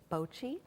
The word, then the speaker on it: bocce: There are actually two ways that I'm told that you can pronounce it. I'm told that St. Louisans often pronounce it bocce without the T, but the rest of the country calls it bocce.